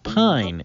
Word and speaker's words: pine: on the end if there were no e on the end and it was just p p-i-n it would spell pin pin but since there's an e it sounds like pine instead of pine a long i this is the word